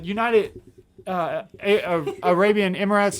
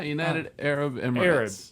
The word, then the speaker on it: United Arab Emirates: Not the United Arabian Emirates, or how do you say it? Yeah, United Arab Emirates.